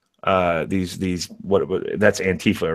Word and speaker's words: antifa: I I just say antifa because that's how it spells that's a word it spells out but the anti-fascist as long as it rhymes with Queen Queen Latifa you're fine yeah it does but